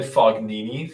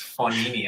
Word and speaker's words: Fognini: Joseph is asking, Stephen, can you pronounce Fabio Fognini for us? I think I said Fognini for the first couple of years of reporting, and everyone was roasting me for it, because no, it's Fognini.